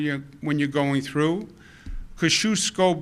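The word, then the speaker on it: Kosciuszko: when you're going through Kosciusko bridge is the way I pronounce it it's a great debate but I'm sticking with Kosciusko Brooklyn Battery Tunnel Goethals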